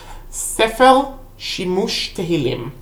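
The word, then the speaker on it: ספר שימוש תהילים: Now, the Chantal Plaster is actually based on, and I'm pronouncing it correctly because I'm a Hebrew speaker, Sefer Shimush Tehillim.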